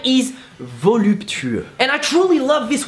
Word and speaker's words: voluptueux: So, voluptueux. How to pronounce it is actually quite easy. Just go with voluptuous and try to pronounce every single letter in it.